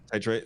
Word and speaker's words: titrate: self uh titr trate is that how you pronounce it tirate titrate yep titrate uh their dosage mirroring commercially available THC uh